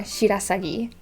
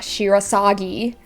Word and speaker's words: Shirasagi: Shirasagi, again with the rolling R, Shirasagi, not Shirasagi. And then it's the intonations again. It's gonna keep being like the thing. English speakers really, really want to focus on that third syllable, but it's not.